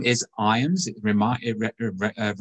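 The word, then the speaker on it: Ijams: but the name is irons it reminds me of rhymes with times he's got a silent j so it's not i jams that's kind of an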